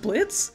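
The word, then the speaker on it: Blitzø: This isn't Blitz. The O is silent.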